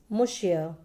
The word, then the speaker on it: monsieur: The first word is monsieur. It's a French word which means Mr. The pronunciation is given down. You can see here M-U-H-S-Y-U-H. It means monsieur.